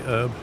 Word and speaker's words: herb: American thing that Dax droing the H in herb wait what yeah they say herb oh get out that